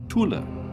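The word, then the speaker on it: Thule: third raish was called Tula I'm using the German pronunciation it's t hu l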